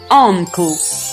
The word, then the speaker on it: uncle: Або, наприклад, слово uncle, дядечко, теж починається літерою, а вимовляється а.